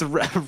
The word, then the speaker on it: Rafe: it's Rafe. It's like parfait.